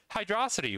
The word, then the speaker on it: Hydrocity: On to Hydrocity, which is pronounced Hydrocity. You want to know why you know it's pronounced Hydrocity? Because you have this thing in English where you take a noun and a verb and you combine them, like you move the accent.